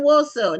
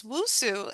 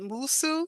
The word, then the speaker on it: Nwosu: And woso. Now, what's the origin of woso? Is it Nigerian? It's wosu. And I think my father-in-law would pronounce it Musu.